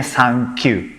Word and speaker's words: Sankyu: Angka 3 dalam bahasa Jepang bacanya san. 9 bacanya Q. Jadinya Sankyu.